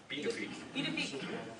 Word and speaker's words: Pituffik: Pituffik.